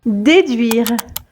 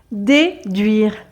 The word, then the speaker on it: déduire: en faveur de l'environnement déduire déduire déduire donc le r à la fin est légèrement prononcé souvent donc quand les